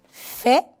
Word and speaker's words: fait: Il fait. Elle fait. Tampoco la T no se pronuncia.